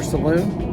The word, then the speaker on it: salon: room area it depends it can be pronounced salon or saloon being from texas i